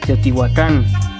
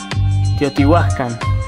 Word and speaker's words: Teotihuacan: por mencionar un ejemplo muchos lugares cuyo nombre en náhuatl aún sobrevive se suelen pronunciar como si fueran palabras agudas producto de la castellanización cuando en realidad eran palabras graves por ejemplo cuautitlán cuautitlán